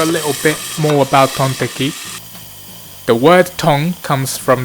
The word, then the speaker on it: tonteki: The teki part comes from Japanese way to pronounce steak, which is like steaki. Steaki, tonteki, get it? So when you put them together, you get tonteki or pork steak.